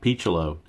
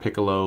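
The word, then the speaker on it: Picciolo: his pronunciation pronunciation correct it is in fact P chalo not piccolo or PG Olo or whatever else you people might want to call him but on a MLB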